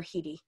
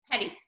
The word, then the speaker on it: Hetty: But how did you kind of go about, you know, do you pronounce it Hetty or Hedy? Hetty. Hetty, yeah, I usually say Hetty too.